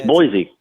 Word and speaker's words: Boise: more of a seat it's not like Boise like my boy D right right so Jonah it's pretty ridiculous Boise yeah it's Boise Boise sorry that's how it's spelled Boise I were in